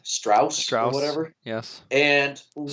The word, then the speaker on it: Strauss: Strauss or whatever. Yes. And what's Strauss. going on with Strauss? He says straws pronounced like straws.